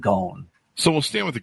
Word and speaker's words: Ghosn: Actually, he pronounces it Ghosn, like a long Ghosn, sound, like rhymes with bone or phone.